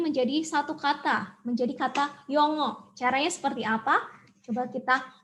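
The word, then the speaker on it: 영어: Yang ini dibaca o. Jadi kata ini dibaca yongo.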